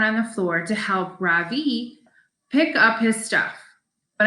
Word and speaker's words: Ravi: floor besides my desk r-a-v-i miss beam has been calling him ravi but when he introduced himself he i'm pretty sure he said his name was ravi with an accent on the second syllable as i reach down